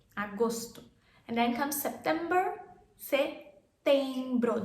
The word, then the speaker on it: setembro: And then comes September, setembro. There's no P in our setembro.